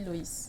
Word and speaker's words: Lois: Bon, c'est vrai que ça s'écrit Lois, mais ça se lit Loïs.